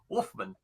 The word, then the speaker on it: Wolfman: so many different ways so how do you pronounce your last name correctly that's right Wolfman Wolfman Wolfman all right that's what I said I